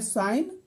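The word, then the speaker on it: sign: साइलेंट है दूसरा है साइन तो साइन में जी साइलेंट है कॉम कॉम में बी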